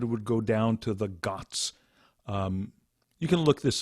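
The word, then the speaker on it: ghat: before sunrise ramananda would go down to the guts um you can look this up it's spelled g-h-a-t and you'll find you've probably seen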